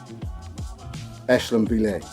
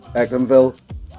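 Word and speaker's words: Echlinville: Ech-lin-vill. Ech-lin-vill. If you pronounce this Ek-lin-vill or Ech-lin-vill, you won't be wrong, but you will be disrespected.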